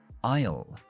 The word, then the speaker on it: aisle: En realidad, la pronunciación de pasillo es igual que la contracción de I will.